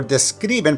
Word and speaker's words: describen: For describen, put the emphasis on the second syllable.